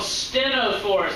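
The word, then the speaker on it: ctenophores: The comb jellies are called stenophores. That's how that's pronounced. The CT is like ST.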